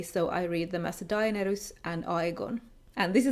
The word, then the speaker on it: Daenerys: I also read Daenerys and Aegon in a Finnish way, so I read them as Dah-eh-neh-rys and Ah-eh-gon.